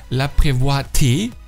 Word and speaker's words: Laprévoité: Der Franzose Charles-Élie Laprévoité. Ja, genau so wird er ausgesprochen.